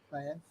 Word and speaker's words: Vallez: Welcome, people, to this author Q&A with Anatalia Vallez, and that's how you pronounce it, right? Vallez.